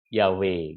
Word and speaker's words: Yahweh: ini kalau nggak ada kalau dibunyikan kan jadi Yahweh gitu ya Wei gitu ya Nah